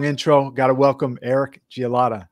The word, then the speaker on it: Gielata: Got to welcome Eric Gielata. I pronounced it right, right, Eric? It's actually Gielata. Gielata. Like, glad to meet you, but that's all right, though.